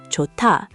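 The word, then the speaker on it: 좋다: Johta, meaning to be good. Okay. Written, it's johta, but the h meets the d. Yes. What happens? They combine into t, so it becomes jota.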